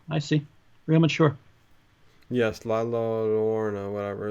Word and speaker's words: La Llorona: La Llorona is how it's yeah, pronounced.